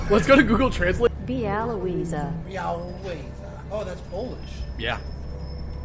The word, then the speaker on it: Białowieża: hold on, let's see if I can actually pronounce that. Bielowieza? Bielowieza? Okay, hold on. Should we go? Let's go to Google Translate. Białowieża.